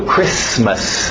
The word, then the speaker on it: Christmas: Alright, do outro lado, Christmas, o T é mudo, Christmas, não tem medo dos S's, Christmas.